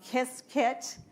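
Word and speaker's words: Qiskit: on to ibms um they call it um kiss kit but it's spelled QSI kit T and take the intro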